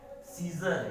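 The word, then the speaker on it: scissors: Silent है। सीजर, यहाँ C क्या है?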